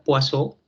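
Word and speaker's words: Poisson: a ver una que se escribe poison pero se pronuncia poo y la tercera se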